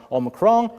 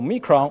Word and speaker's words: omicron: still confuses people as the pronunciations vary from omicron or mikron or or mike wrong and according to the